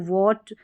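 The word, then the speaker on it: what: इसमें H silent रहेगा। क्या रहेगा? एच। जैसे इसको व्हाट इसको वीट wheel when वाइट which Y इस तरीके से पढ़ा जाता है और वैसे भी ये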